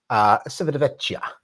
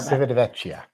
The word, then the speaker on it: Civitavecchia: Civitavecchia. Yeah, that. And I'm just as Italian as you are. Civitavecchia.